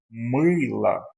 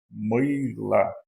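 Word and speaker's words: мыло: Lembrando que essa é a sílaba tônica, então esse O aqui ele vai aparecer com o valor de A. E eu leio mila, mila, que é sabão ou sabonete.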